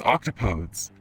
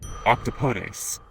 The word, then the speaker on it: octopodes: Octopus is a Greek word, so it's octopodes, but it's not pronounced like that. Some people say octopodes, but it's not that either. Like, according to my friend who spoke Greek, it is octopodes, which I like so much.